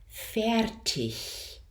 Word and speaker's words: fertig: So a word like fertig is our hybrid vowel.